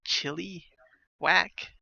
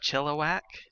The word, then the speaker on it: Chilliwack: I try to say Chilliwack a lot because I know a lot of people's emphasis chili, like chili whack, or I don't, and it's just Chilliwack.